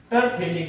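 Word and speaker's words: terephthalic: उसके लिए आप लिखेंगे टरथैलिक एसिड। ये अगर पास में थैले जैसी स्ट्रक्चर है तो थैलिक एसिड है, नहीं तो टरथैलिक एसिड है। इसमें P साइलेंट रहेगा स्टूडेंट।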